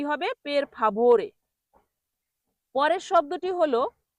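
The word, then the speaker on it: per favore: পেরফাবরে পের ফাবরে পেরফাবরে ওই ভ এর জায়গায় ব এর মত উচ্চারণ করে যেখানে পের ফাভরে ভ এখানে ভ উচ্চারণ হবে কিন্তু অনেকে বলে পের ফাবরে এখানে ভ এর জায়গায় ফলে ব এর জায়গায় কি বলে বের ফাবরে এই বতে উচ্চারণ জোর হবে ভোরে।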